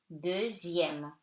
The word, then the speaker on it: deuxième: In numbers, X before I-E-M-E, M accent grave, it's pronounced like Z. So, de, E-U like E, zième, okay? Deuxième, the second, okay?